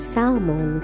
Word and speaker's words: salmon: Ayan Yan yung mga salmon Salmon ' ba silent L daw Salmon o Ayan Yan yung